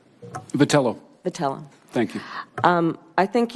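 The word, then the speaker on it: Vitiello: Have I pronounced your name correctly? Vitello.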